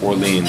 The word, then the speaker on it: Orleans: He's probably writing for that to be pronounced Orleans, isn't he?